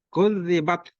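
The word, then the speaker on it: كُذِّبَتْ: Kalau ta dia sifatnya hamas. Kudzibat, keluar napas, mengalir napas. Kudzibat. Kalau tangan ditaruh di depan mulut kemudian diucapkan kudzibat, berulang-ulang kemudian cium bau, maka itu bacanya betul. Jadi begitu cara mengucapkan huruf ta kalau dia mati, sukun.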